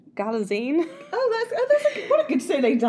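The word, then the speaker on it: Galitzine: I've actually learned how to say it because Anne Hathaway was saying it's like magazine. So it's Galazine.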